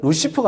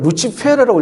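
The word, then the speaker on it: Lucifer: 루치프라는 라틴어 발음으로 루치페로 해야 되. 원래 그러면은 루시프가 아니고 또 사실은이 루시프는 영어인데 영어 발음인데이 라틴들을 읽으면 루치페르라고 읽어야 돼요.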